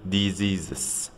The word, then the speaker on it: diseases: ونلاحظ ان الاس والاس اللي في نص الكلمة بيتنطقوا شبه حرف الزد شوية، بنقول diseases.